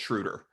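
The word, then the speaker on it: Schröder: I've been saying it wrong the whole time, but I believe we asked him and it's Schroder.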